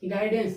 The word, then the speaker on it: guidance: GUIDANCE, जी के बाद क्या आ गया, यू आ गया, जब जी के बाद यू आ गया तो यू साइलेंट हो गया, क्या हो गया, गाइडेंस, यानी कि GIDANCE, गाइडेंस।